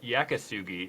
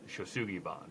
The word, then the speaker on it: yakisugi: videos saying that i'm saying it wrong it's yakisugi is the real japanese word and the western world will mispronounce it shosugibon so it's there's basically no google searches for